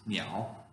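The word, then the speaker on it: 鸟: is a picture of a bird okay the pronunciation is meow this character is the character and it combines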